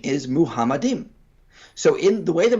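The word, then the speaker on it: מחמדים: are they getting it why are they constantly pronouncing this as muhammadin uh well actually throwing them a bone here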